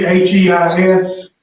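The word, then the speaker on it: εἷς: But it's the H. It'd be HEIS. Well, EI makes what sound? Little A.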